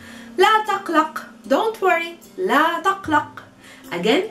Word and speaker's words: la taqlaq: La taqlaq.